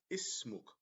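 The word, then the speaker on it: اسمك: So also we placed the sukoon here to indicate that we have two syllables. We need to separate them.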